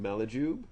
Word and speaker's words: Malajube: Malajube.